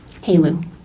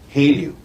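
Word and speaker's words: HALEU: HALU. HALU.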